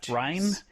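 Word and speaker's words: Rian: Ryan. Because it's not Ryan. It's spelled like rain.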